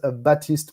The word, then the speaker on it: Baptiste: batist uh sure so my name in in the real 100% pronunciation is batist p um as you